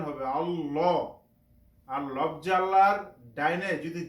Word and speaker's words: আল্লাহ: আমরা এভাবে উচ্চারণ করব ল উচ্চারণ করবো মোটা করে এবং হু আহাদে আহাদে